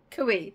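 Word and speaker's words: cuy: special events national day of forgotten how to pronounce akuya kui that's it the national dish of kui the guinea pig celebrated the second Friday of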